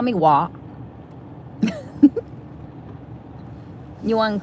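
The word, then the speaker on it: Hoa: Wa in Vietnamese means flower, actually, but not spelled W-A. It's spelled H-O-A. It means flower, but it's pronounced like W-A, like Wa.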